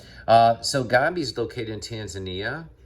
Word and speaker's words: Tanzania: gabi is located in tanzania or tanzania it's been pronounced by tanzanians that i met um and i